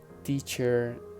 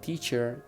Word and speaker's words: teacher: Teacher in the British English is not teacher, it's just teacher. Actor, it is actor. They don't pronounce the letter R.